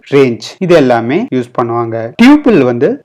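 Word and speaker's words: tuple: டியூபிள் டப்பிள்னு pronounce பண்ணுவாங்க.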